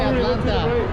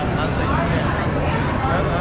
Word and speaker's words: Atlanta: And it's cool that I'm not only when I say Atlanta. Atlanta? Yeah. Well, they call it Atlanta. We don't pronounce the T's.